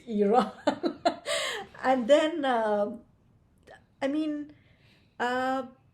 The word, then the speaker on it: Iran: to my students to pronounce Iran the right way and not Iran and so step one pronounce pronunciation I always say like repeat after me it's Iran and then I mean